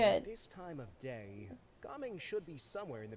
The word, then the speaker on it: Gaming: Gaming.